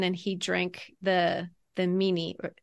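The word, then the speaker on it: minni: he drank the the meanie is that how you say it mini yeah mini mini it's m i n n i and it means remembrance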